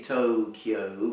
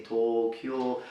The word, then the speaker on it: Tokyo: Japanese as Tokyo Tokyo so there is no little you there you don't really say Tokyo but you simply say tall cure so the O is long but not O Okay so talk your